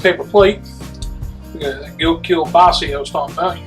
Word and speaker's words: Kielbasa: Now I say Kielbasa, that's the pronunciation. I got friends up PA told me how to properly say. Apparently Kielbasa is wrong, so it's Kielbasa.